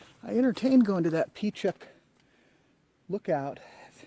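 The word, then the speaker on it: Pechuck Lookout: entertained going to that P Chuck look out that's how you pronounce it but I don't know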